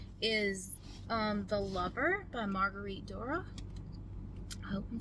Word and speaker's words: Duras: The Lover by Marguerite Duras. I hope I'm saying her name right. She's French. I don't speak French. I think it's Duras. It's spelled D-U-R-A-S, in case you want to look her up.